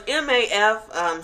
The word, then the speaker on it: MAF: So it's MAF, separating. We put plus signs in the middle of them, right? So it stands for music, art, and food. Okay, because those are all of the things that we kind of want to connect. So some people call it MAF, some people, call it, anything, but we pronounce it math, and then it's just